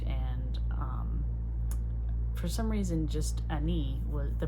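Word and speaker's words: Enei: And for some reason, just Ani, the pronunciation just came to me.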